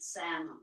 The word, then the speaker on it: SAMO: Same old thing. Same old thing. thing. And I think he pronounced it Samo, not Sam.